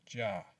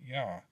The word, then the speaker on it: Jah: The condensed form of Jehovah is seen in Psalm 68, for as Jah, not Yah, as Jah.